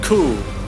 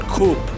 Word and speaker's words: coup: Example, coup, not coop. Coop is not suitable.